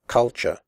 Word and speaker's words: culture: the word culture correctly the first U is pronounced like the ooh in butt and the last syllable is pronounced sure here are some other